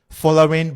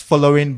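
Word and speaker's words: Folarin: Before you even come to the name, following Balogun. They like to pronounce the name as following Balogun, the commentators.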